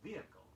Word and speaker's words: vehicle: Here are two words, each spelled with an H, but preferably pronounced without it.